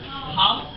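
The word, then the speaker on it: Habb: This is an award for Hob, H-A-B-B. Hob. Pronounce B, not D.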